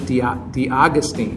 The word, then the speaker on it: D'Agostine: So, is it D'Agostine?